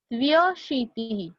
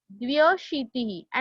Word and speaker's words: द्व्यशीतिः: एकाशीतिः, द्व्यशीतिः. See students, I am pronouncing it as द्व्यशीतिः and not द्वयशीतिः.